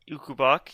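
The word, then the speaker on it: Ukobach: Ukubak, yes.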